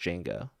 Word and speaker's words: Django: Okay, so there's a so Django is spelled DJ, but you don't pronounce the D, and I'm pretty sure they like say that in the movie where people are like calling him Django or something, and he's like the D is silent. It's just Django.